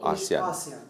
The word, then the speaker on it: ASEAN: But Asian or ASEAN? ASEAN. My weird pronunciation.